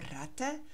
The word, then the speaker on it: ratte: Remember that for ratte it's a short a so it we double the consonant.